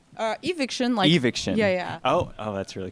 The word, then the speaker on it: Evicshen: with sound artist Shen, a.k.a., am I pronouncing this correctly, Evicshen? Evicshen.